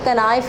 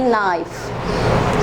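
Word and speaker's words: knife: यानी कि अगर नी लिखा हुआ तो हम उसे किनी नहीं पढ़ रहे, नाइफ लिखा हुआ तो उसे कनाइफ नहीं पढ़ेंगे, क्या पढ़ेंगे, नाइफ।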